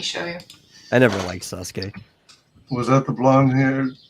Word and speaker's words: Sasuke: Yeah, that's how you pronounce it, Sasuke.